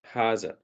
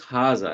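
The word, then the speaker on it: هذا: normals over here but it's pronounced haza as if there is a alif next to it it's written like this in Arabic okay haza means this this is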